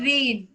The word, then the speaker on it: Rein: They have an entire design studio called Reen. Is that right? I'm pronouncing right? It's called Rain.